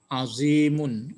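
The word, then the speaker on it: العظيم: Jangan azimun, kan pantang. Ya, pantang pakai apa? Pakai tanwin.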